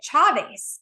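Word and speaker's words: Chávez: And like if you're, Hispanic or in like a Spanish speaking country, you would pronounce it Chavez.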